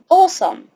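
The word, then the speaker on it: awesome: دي عشان نطق كتابتها الجزء اللي في الاول ده هنطقه كانه اوه فاقول اوه سم او سم او سم اوسم في كلمات كتير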